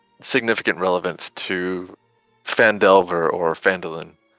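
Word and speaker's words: Phandalin: good and the nearby human town of fandolin pronounced vandalin prospered as well but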